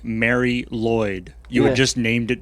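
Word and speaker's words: Lwyd: lloyd mary lloyd yeah i believe i went on a deep youtube dive uh to check the pronunciation just open every tab and we came to a consensus of it's closer to lloyd okay yeah yeah it's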